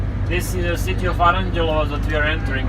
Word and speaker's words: Aranđelovac: How do you pronounce it? Aranđelovac. Aranđelovac.